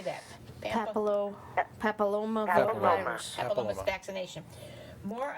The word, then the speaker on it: papillomavirus: Papilloma Papilloma.